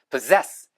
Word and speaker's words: possess: 이게 앞에도 ss 뒤도 ss인데 발음이 앞에는 발음이고 뒤는 스 발음이에요. 그래서 포스예요. 어, 신기하죠? 어 똑같은 SS인데 possess possess possess 소유하다 그래서 possessive 하면은 소유욕이 강한이란는 뜻이에요.